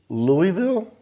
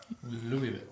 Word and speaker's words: Louisville: Did you say Louisville? Louisville. It's Louisville. Oh, without the Louisville. Well, there's three. So if you've never been and you read the word, you might go Louisville.